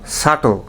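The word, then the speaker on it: subtle: এছাড়া সাটল এবং ডাউট এই দুইটা শব্দেও আমাদের উচ্চারণে সতর্ক হওয়া উচিত। এই দুইটা শব্দেও বি উচ্চারণ হবে না, বি সাইলেন্ট থাকবে।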